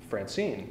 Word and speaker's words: Francine: Francine, your name, if we scanned that--let's put that on the screen--if we, you know, take those two syllables as a single foot, we can see that the stress falls upon the second one.